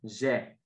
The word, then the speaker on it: j'ai: For example, the open E, which is j'ai, like in j'ai mangé. So there we have an open E and a closed E.